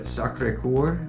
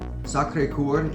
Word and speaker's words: Sacré-Cœur: We immediately went up to this church called, and forgive me if I pronounce it incorrectly, all of you from France, or those that speak French, but Sacré-Cœur. Sacré-Cœur is how I pronounce it.